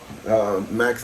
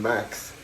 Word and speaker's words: Mac: I'm making Mac's name wrong, like a lot of other people calling him Max. Name is Mac.